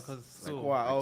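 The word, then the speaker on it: Schwa: That's how do you pronounce SC HWA? I think Squa, right? Yeah. Squa.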